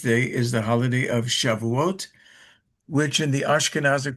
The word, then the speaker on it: Shavuot: And then on the 50th day is the holiday of Shàuot, which in the Ashkanazic pronunc pronunciation is shuis.